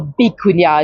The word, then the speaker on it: vicuña: Or bicuña, as they might say here, because the V's over here are often pronounced as a B.